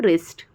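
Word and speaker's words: wrist: W silent हो जाता है। जैसे कि wrong, राइट, wrong, राइट, rap, wrapper, wrinkle और रिस्ट।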